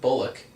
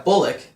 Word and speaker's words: Bullock: no it's surprising um i'm gonna pronounce his name wrong but you already know who i'm gonna ask bullock yeah it's buller it's bullock i keep thinking cool pollock they're not like